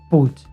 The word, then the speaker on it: Puig: pui puig Antonio puig por lo visto se pronuncia puch o sea sería Antonio p sí no me